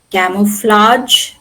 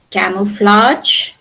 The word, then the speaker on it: camouflage: Arch like in camouflage, garage, sabotage. It has retained the French pronunciation camouflage, garage or sabotage.